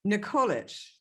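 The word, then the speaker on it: Nikolić: I am your host, and I'm very pleased to welcome my next guest, Constantin Nikolic.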